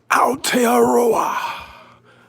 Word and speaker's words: Aotearoa: Aotearoa. Aotearoa, all my Maori, shout out all my Maori.